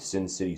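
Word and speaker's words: Cin City: We're going to do like a fantasy football draft live with Sin City Sports. Not Sin City Sports. Is that what they're called? I think so. Sin City, but it's spelled like C-I-N, like Cincinnati.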